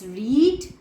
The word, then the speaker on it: read: Verb 1 इज रीड, verb 2 इज रेड and verb 3 इज रेड. रीड, रेड, रेड.